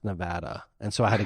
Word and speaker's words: Nevada: right before the show they're like uh it's pronounced Nevada and so I had